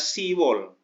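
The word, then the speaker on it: 시월: Kemudian Oktober itu bulan 10, Sipwol, tapi huruf biupnya nggak usah ditulis, bunyinya Siwol, ya, Siwol.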